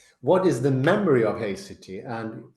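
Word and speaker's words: haecceity: is the memory of hity and thank you for giving the the correct pronunciation I said haxity there must be some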